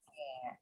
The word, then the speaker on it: heir: Jadi kalau kalian Misalnya ada ininya di bahasa Inggris kalau dengar kata heir atau nanti ada juga heirloom gitu ya, keturunan. Ini heir itu keturunan, nulisnya itu W-A-E-I-R. Hati-hati ya, tapi bacanya dibaca heir.